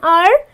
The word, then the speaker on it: hour: and are so why do we say an hour because this again is silent and this is my first word that